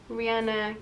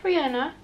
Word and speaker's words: Rihanna: this, but my boyfriend told me that apparently Rihanna gave an interview lately and we've been all pronouncing her name wrong. It's not Rihanna, but it's Rihanna.